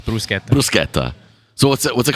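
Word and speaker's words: bruschetta: with the it's not brushetta sorry and it's poretta not it is it is pora not petta okay so the CH is a hard a k sound it's like C like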